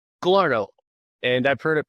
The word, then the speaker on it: Galarneau: how do you say your last name Gallo and I've heard it pronounced every which way.